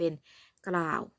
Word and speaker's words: กล่าว: เช่น คำ ว่า กล่าว ก็ ต้อง เอา ก กับ รอ เนี่ย อ่าน ออก เสียง มา พร้อม กัน เลย รอ รอ รอ นะ คะ อ่าน เป็น กล่าว หา มา ดู คำ